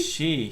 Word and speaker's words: Shih: Peter Shih? She. S-H-I-H. S-H-I-H. Peter Shih.